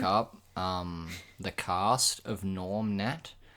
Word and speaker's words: Gnorm: um the cast of Norm net oh it's nor it's g n o r mnet cuz there's a silent G in that yeah well yeah yeah